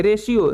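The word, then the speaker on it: ratio: हम क्या पढ़ेंगे इसे हम रेशों वो पढ़ेंगे रेश्यो जिसका हिंदी मतलब होता है अनुपात उसी प्रकार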